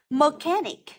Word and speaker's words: mechanic: one a mechanic Sorry mechanic từ thứ nhất Chúng ta có từ mechanic trọc âm rơi vào âm thứ hai bởi vì nó đứng